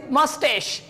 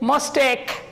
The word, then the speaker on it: mustache: So here this word is mustache. Mustache. The correct pronunciation, the person who has long mustache, and the people said mustake. So CH doesn't give the sound of K.